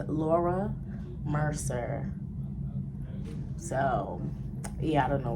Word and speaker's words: Laura Mercier: don't know why I used to call it Laura Mercier like I don't know like I I heard a YouTuber pronounce like that so I just automatically was